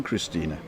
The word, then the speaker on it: Christine: everybody spells it because i call it christina because i pronounce the e on the end but it's actually spelled just like the english name christine right but uh because